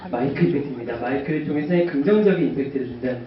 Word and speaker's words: 마이크임팩트: 감사합니다니다 네 감사합니다 어 저희 마이크 임팩트는 이렇게 보시면 미친 팩트라고 읽으시고 마이크로 임팩트라 읽으세요 그래 저희는 마이크 임팩트입니다 마이크를 통해서 긍정적인 임팩트를